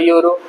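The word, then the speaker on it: euro: 1 यूरो आपके पास है तो आप बोलेंगे I have the यूरो, I have an यूरो, I have a यूरो।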